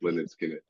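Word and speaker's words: Lynyrd Skynyrd: to a lot of uh Skin's first album pronounced lard skinid yeah um but yeah like we we are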